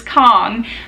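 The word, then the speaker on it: Khong: by Rachel Marie Kong her last name is spelled k-a-n-g but I know for a fact that it is Kong because we had her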